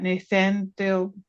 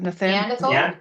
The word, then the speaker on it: Neanderthal: understanding of, and I never say it right, Nathaniel. Someone help me with that, Neanderthal.